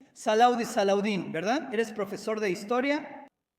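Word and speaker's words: Salah ad-Din: También otra buena pronunciación. Salaudi, Salaudín, ¿verdad?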